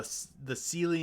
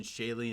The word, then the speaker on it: Seelie: The Seelie and Unseelie, or if you prefer the pronunciation, Shalie and Unshalie. As I understand, both pronunciations are correct. It depends on who you're talking to and where you're at.